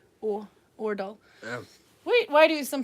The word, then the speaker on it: Aardal: So his name is Karl Ordal, but it's spelled AARDAL.